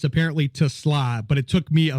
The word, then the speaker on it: TeSlaa: Yeah, I'm kind of looking forward to So, how how do you pronounce his name? Is it Isaac Tesla? Yeah, it's Tusla.